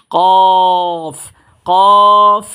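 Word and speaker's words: ك: সাথে লাগিয়ে মোটা আওয়াজে পড়বো যেমন এটার নাম কফ কফ কফ আর এটার নাম হচ্ছে কাফ এটা উচ্চারণ হবে আপনার জিহ্বার ঘোড়া থেকে যে হরফটা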